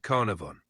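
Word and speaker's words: Carnarvon: play yeah and I have to imagine Lord carnivore how do you say how do you say his his name again close it's Lord Carnivor he was the financial old Lord Carnivor all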